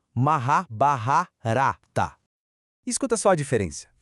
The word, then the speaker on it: Mahabharata: A pronúncia certa, com a força na sílaba correta, carrega a musicalidade do poeta original. O certo é maha barrarata.